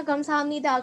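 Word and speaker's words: 감사합니다: cara untuk menunjukkan Kamsahamnida ya oke dibaca gamsahamnida gamsahamnida itu artinya Apa artinya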